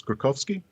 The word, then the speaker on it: Skorkowsky: name i can never trust an online translator pronunciation thing but it's krakowski yeah exactly so we had thought my family